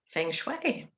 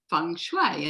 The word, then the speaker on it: feng shui: It's an interesting topic because just straight up, people read the word feng shui and it's spelled F-U, yeah, F-E-N-G, but it's actually pronounced F-U-N-G.